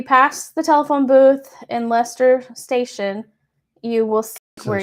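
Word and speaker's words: Leicester: So if you pass the telephone booth in Lester station, you will see where you It's Lester. It's Leester.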